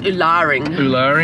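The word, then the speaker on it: Ularring: uluring I think it's uluring from the um the story that we read last night the pronunciation is on the second syllable okay the Larry yeah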